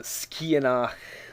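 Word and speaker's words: Sgitheanach: You got the SG, the G in this case becomes a K sound, and the TH is not pronounced, so you get ski out of that, and then the Skianach, again, the CH is a raspy H sound, and that's pretty much it.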